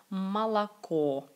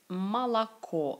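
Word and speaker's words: Монако: s'est pas débiné donc et si c'est la dernière syllabe la dernière au qui est accentuée c'est donc monaco monaco c'est comme une seule eau et deux autres sont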